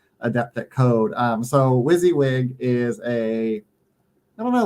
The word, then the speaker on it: WYSIWYG: think I know the answer is what does wizzywig mean wizzywig um honestly I have to look